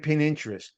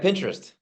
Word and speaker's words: Pinterest: so why don't you share your thinking behind pininterest and if I'm even saying it right yeah Pinterest yeah yep and and I I you know